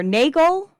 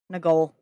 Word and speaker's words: Nagol: Now, is this pronounced Nagol or Nagel? I don't want to muck it up. Okay. It's the reverse of Logan. Okay. Nagol.